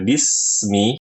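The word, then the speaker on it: بسم: kasr pada huruf ba bacanya kan Bi dibaca B ini salah Bi bukan B dan tidak menyempurnakan sifat rikhawah atau Rah pada huruf Sin yang sukun yang mengakibatkan suara Sin terputus jadi baca Bismi Bismi bis Bismi dialirkan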